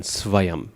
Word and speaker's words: svayam: But Sanskrit has 1 letter, which is halfway between va and wa. Okay? So, swayam is halfway between va and wa. In general, just pronounce it as a V, the way it's written, svayam, okay? You won't go wrong that way. There's no real wa, like as in wander in English. It's not there in the Sanskrit.